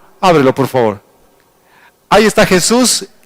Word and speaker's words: Jesús: Entonces nosotros deberíamos pronunciar Jesús. Jesús.